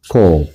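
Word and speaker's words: קוף: 그래서 요거는 코프라고 읽고요. 어떤 분은 쿠프라고도 읽기도 한데 저는 코프라고 배웠어요. 코프.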